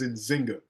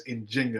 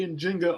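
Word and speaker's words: Njinga: refer to her as in Jinga that's a more accurate way of pronouncing her name uh so I'm GNA try to say in Jinga a lot but I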